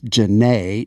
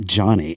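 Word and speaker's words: Jahne: a h NE and fanatically it looks like Johnny and I called her up and embarrassed myself and she was like it's Jana not Johnny oh God and we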